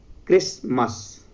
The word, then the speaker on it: Christmas: The next word is Christmas. Here Christ, T is also present here, but we didn't pronunciate T here, so we call this word Christmas.